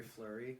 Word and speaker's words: Fleury: But speaking of big moves, Justin Fleury, right? Isn't that how I pronounce his name? Lafleur or whatever? What's his- Marc-Andre Fleury.